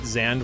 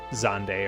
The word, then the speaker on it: Xande: So Xande, it still keeps that trend of having the emphasis on the first syllable, but then it's just one syllable, you know?